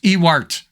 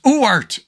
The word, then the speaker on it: Ewart: It's not pronounced Ewart. It's Uart. I think that's the way you pronounce it, Uart.